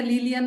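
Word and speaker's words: Lilián: ¿Sí se pronuncia Lilian, maestra? Sí, exactamente, es Lilian, con acento.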